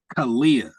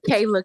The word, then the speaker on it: Kayla: pronouncing a wrong but it's Kalia Khalia King am I saying your name right Khalia uh Kayla King I'm sorry Kayla K thank you for correcting me congratulations on your 25